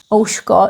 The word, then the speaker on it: ouško: Not uško, but ouško.